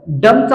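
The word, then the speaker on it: dumb: Silent होताना दिसत आहे त्याच्यानंतर आहे डम डमचा उच्चार करताना आपण बी हा सायलेंट उच्चारतो तेव्हा आपण या ठिकाणी डम असा उच्चार करतो ठीक आहे.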